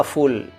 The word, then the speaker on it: फूल: जबकि उच्चारण गलत है, फूल नहीं है वो फूल है। फ और फा उच्चारण समझना पड़ेगा, ठीक है साहब। फूल और फूल, फ फ फ फ फ फूल फूल फूल फूल, फ्लावर, ये उच्चारण सही है उसका।